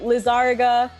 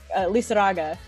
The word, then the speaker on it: Lizaraga: Lizarga, or if you want to do it super like Lizaraga is the right.